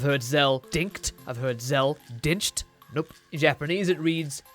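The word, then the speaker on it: Dincht: So it seems when localizing they took some creative liberties by adding a CHT at the end of Din. But in English, if that was a real surname, that T would in fact be silent. It would be, without debate, Zell Dinch.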